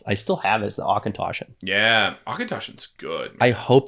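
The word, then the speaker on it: Auchentoshan: are crazy but yeah uh no akintoshi is correct yeah congratulations or i'm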